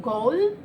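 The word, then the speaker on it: Ghoul: and you know I'm looking forward to watching goal that's how it's pronounced I hope Radhika take Netflix series its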